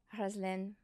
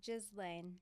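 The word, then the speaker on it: Ghizlane: Haslen. Did I pronounce your name correctly? Yes. In Arabic, which is beautiful. Thank you. How do you say it in English? In English, it's Jizlane. Jlane. Jizzlain.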